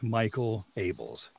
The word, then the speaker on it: Michael Abels: If I had my way, my name would be pronounced Miguel Ables, because it sounds so much better than Michael Abels. But it is, in fact, Michael Abels.